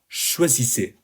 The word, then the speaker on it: choisissez: Note the pronunciation, choisissez.